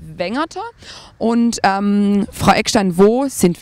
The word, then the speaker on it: Wengerter: das besser zu verstehen, Weingärtner ist der Name rund um Brackenheim und traditionell ausgesprochen bedeutet es Wengerter.